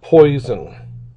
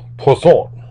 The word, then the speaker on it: Poisson: And this distribution is called the Poisson probability distribution, not Poisson. It's French, and I don't know that I pronounce it entirely correct, but it's somewhere along the line of Poisson.